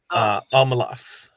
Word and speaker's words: Omelas: I was saying the name wrong though. Omelas.